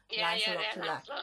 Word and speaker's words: Lancelot du Lac: Well, what fascinates me particularly is how you focus on Lancelot du Lac's sons. Am I saying it correctly? Lancelot du Lac.